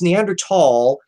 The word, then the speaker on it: Neanderthal: are pronounced very differently so yeah it's neanderthal even though it's spelled with the damn th because those damn Germans